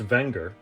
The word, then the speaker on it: Wenger: Technically pronounced Wenger, the company dates back to the late 1800s.